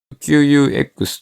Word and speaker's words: Qux: モジュールなので、 QUX という書いて Q と